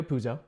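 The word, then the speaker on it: Puzo: everybody knows the writer Mario PUO is that how you pronounce it yes I just want to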